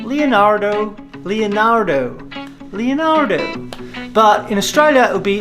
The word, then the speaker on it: Leonardo: Australia you'll see that Australians don't pronounce the letter R so in America of course they'll be saying Leonardo Leonardo Leonardo but in Australia will be Leonardo so you've got to